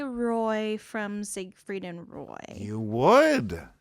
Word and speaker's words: Roy: There's a lot of uh Roy hockey players and some of them are pronounced Wah. Did you know that? They're from Crispen Quebec. Crispen. Wa. How do you get w from Roy? What? It's a French attitude.